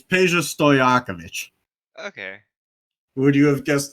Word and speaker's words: Peja Stojakovic: It's easier than you think. It's Peja Stojakovic.